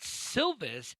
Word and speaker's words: Silvis: So anyway, going in this weekend, what's happening now at the John Deere Classic at TPC Deer Run at Silvis, Illinois. Did I spell that right?